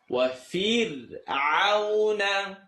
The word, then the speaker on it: فرعون: Now the word Fir'aun, fir, is not pronounced correctly. وَفِرْعَوْنَ ذِي الْأَوْتَادِ. It's kind of like the name Birjas. It's not bridge. You don't come from the fatha, it's kasra. Bir, take the same thing here.